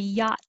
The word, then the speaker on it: yacht: you should see my yacht i'm going to the yacht club i don't release the t yacht club i hold it yacht club um 28 colt i